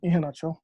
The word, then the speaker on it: Iheanacho: name is emmanuel hinata or if i want to say it properly as a nigerian iheanacho um the the the